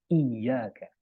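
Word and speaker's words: إِيَّاكَ: kepadamulah kami menyembah itu ada tasdid di situ ada nabernya gitu ada penekanan iyaka iyaka bacanya harus gitu Iya agak mengghantak iyaka na'budu sedangkan kalau enggak pakai tasdil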